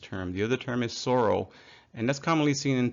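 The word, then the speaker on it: psora: more commonly used term the other term is Soro and that's commonly seen in terms like psoriasis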